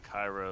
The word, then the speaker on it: Cairo: It's Cairo. Cairo, okay. Yeah, So the city in Egypt.